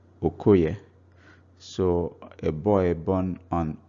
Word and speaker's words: Okoye: Now Oke Oye becomes Okoye because O forces the A to drop out of the spoken word.